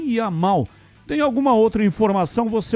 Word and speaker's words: Yamal: O som do Y é I. Então, o sobrenome dele é Yamal.